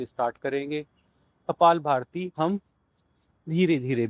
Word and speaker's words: कपालभाति: कपालभाति का सही उच्चारण कपालभाति होता है, परंतु कई बार हम आवेशवश कपाल भारती बोल जाते हैं।